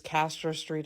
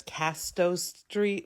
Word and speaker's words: Castro Street: out of here also Jim Bob mispronounces Castro Street as Casto Street which was funny then